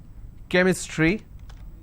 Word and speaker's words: chemistry: for example change but when I have the word chemistry CH becomes Cur sound so I say chemistry